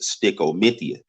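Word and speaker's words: stichomythia: And Styco actually comes from an actual Shakespearean term that's actually pronounced sticomythia.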